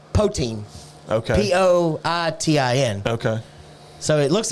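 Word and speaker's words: poitín: Because it's spelled poutine. Okay. Poitin.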